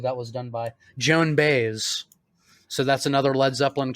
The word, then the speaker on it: Baez: Joan Baez. So that's another Led Zeppelin cover. Baez. Yeah, Joan Baez, right. I always mispronounce her name like fucking the guitarist for Red Hot Chili Peppers.